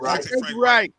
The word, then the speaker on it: Reich: Is that how you pronounce his last name? Frank Reich.